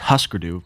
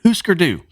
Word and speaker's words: Hüsker Dü: So, when I was reading a bit about how Hüsker Dü I almost said Husker Du. I thought it was Husker Du. I had to really look up the pronunciation. Hüsker Dü.